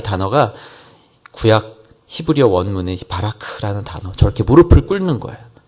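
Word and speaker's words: ברך: 이 단어가 히브리어 원문에는 바라크라는 발음이 우리말 같은 발음으로 표현하기 정확치는 않지만 바라크 이렇게 발음이 되죠.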